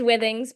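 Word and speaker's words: Withings: It is Wings, but you can say it however you want. We're a French company, so uh they pronounce a few things a little different. Um I'm Satie Moore.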